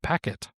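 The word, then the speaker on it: pacquet: the engine is called packet is how I think you would pronounce it.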